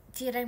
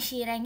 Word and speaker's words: cireng: Sireng. Syireng. Bukan bacanya cireng, Guys.